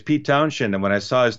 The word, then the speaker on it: Townshend: and then in England, it's just Send. You don't when you say Shend, you don't add an H. It's just you pronounce it like Townshend, Hmm.